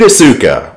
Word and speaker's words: Asuka: wanting less friendly reunions meet asuka or oscars the name is supposed to be more properly pronounced in japanese she is the co-leader